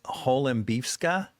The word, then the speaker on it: Holembivska: So, and then your last name is Hollifska. Right. Right. Okay. An Holiffka.